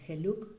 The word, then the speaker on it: geluk: Aquí en Holanda el término para referirse a felicidad es, o feliz, ser feliz es geluk sein, ¿no? Geluk se escribe con G-E-L-U-K y tiene una doble acepción, que es fortuna y es felicidad.